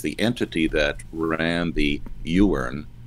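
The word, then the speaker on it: Iwerne: entity that ran the you earn is spelled i wern you were in camps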